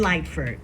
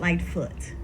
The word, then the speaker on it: Lightford: My queen, my foxy B and Lightford, not Lightfoot.